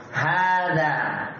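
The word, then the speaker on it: هذا: Ha panjangnya tidak tertulis begini kan? Hadza. Tapi kalau baca hadza panjang. Tapi kenapa tidak panjang tulisannya? Karena dia masuk dalam kaidah yuntab wala yuktab. Dia dibaca panjang tapi tidak ditulis panjang.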